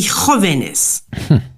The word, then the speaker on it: jóvenes: It would be Jóvenes. Jóvenes, because it's Jesus. When it's a J, it's pronounced with an H.